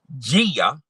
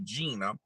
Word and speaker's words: Gia: now allegedly his wife Gia Casey let me pronounce that right because I used to call her Gina but it's kind of funny Gia is technically short for Gina but that's neither here